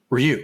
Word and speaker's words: Ryu: from Chico California it's Ryu with an access on the second syllable though you should try to say it as one syllable Ryu Ru it's not Ru and it's not Ru